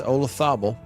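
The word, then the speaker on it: Olazábal: Uh 1995 after Joseé Maria Olathabel spelled with a Z and always feels weird to pronounce it that but it's Olathabel he had paella.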